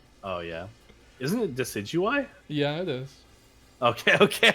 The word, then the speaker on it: Decidueye: in that game too yeah I went uh decadooie oh yeah isn't it decidueye yeah it is okay okay I was like I'm pronouncing it wrong it was like I thought